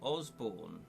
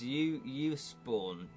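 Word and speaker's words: Usborne: I always call them Osborne, but that that isn't how you pronounce them. It's Uusborn.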